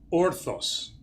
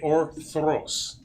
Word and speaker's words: Orthros: Because most Greeks pronounce it orthos. Mm-hmm. Orthos means straight up. Orthros means dawn. It is a service of the dawn. Okay. So the R is important. Okay. Orthros.